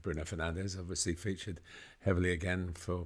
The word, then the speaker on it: Bruno Fernandes: Bruno Fernandes, which we don't say, of course, and we say Bruno Fernandes, and all the commentators